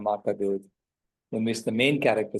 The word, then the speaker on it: Maa Ka Doodh: M-A, okay, let's spell that again. M-A-A. M-A-A, yeah. K-A. K-A. D-O-O-D-H. Okay. Maa Ka Doodh.